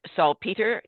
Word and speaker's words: Salpeter: Our guest today is Nate Salpeter. Did I pronounce that correctly, Nate?